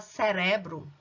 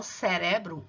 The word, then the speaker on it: cerebro: Em espanhol, não é na mesma sílaba, não. A gente fala cerebro. Em português, cérebro. E em espanhol, cerebro, ou seja, a sílaba tônica é diferente, o lugar dela é diferente. Enquanto em português é a primeira sílaba, em espanhol é a segunda, ok?